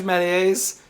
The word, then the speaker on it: Méliès: Moon, movie pioneer George Melly used women as let's decorative mispronounce his name accessories too. who never left the ground. Jules Melly? Do you call Georges Méliès Jules Melly?